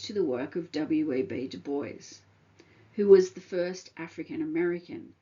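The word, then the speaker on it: Du Bois: name would be pronounced Dwis, but Dubo was writing about race and power. And so he chose to use, I guess, a more, if you like, Americanized version of his name.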